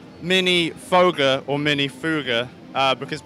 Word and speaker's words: Minifooger: going to do is ask seral how he pronounces the names of the products well I I would have to say mini foger okay yeah so so we were right then